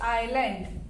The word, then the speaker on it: island: Sri Lanka is dash island. Beta in this S is silent. Okay. How we speak it is island.